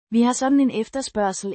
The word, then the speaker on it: efterspørgsel: efterspørgsel, Means demand, pronounced efterspørgsel, ef-ter-spør-sel.